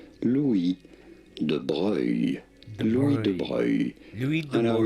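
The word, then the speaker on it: de Broglie: Louis De Bruyne Louis De Bruyne, French De Bruyne Louis De Bruyne Hardly anything to do with how it's said or spelled but Louis De Bruyne You were absolutely correct.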